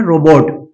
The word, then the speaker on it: रोबोट: अब इसका clarity pronunciation रोबोट नहीं होता बल्कि ये देखेंगे आप ऐसे होता है। रो, ओ, ओ, इसे क्या पढ़ेंगे? ओ, ना कि ओ, ओ। तो बोले रोबट, रोबट, रोबोट नहीं, रोबट, रोबट।